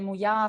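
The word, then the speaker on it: Muià: Moya.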